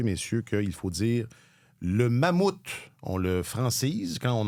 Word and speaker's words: Mammoth: Alors, sachez, messieurs, qu'il faut dire le mammouth.